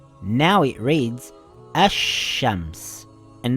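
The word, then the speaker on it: الشمس: letter now it reads ash shams and not al shams the sheen is doubled i didn't read ashams i read ash shams with two sheens if there is a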